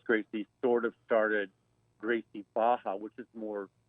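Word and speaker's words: Barra: there's a gracie baja academy in redland it's pronounced baja but it's still b-a-r-r-a in in portuguese language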